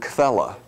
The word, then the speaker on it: Quelle: Q is from the German word Quelle. QU is pronounced like KV in German.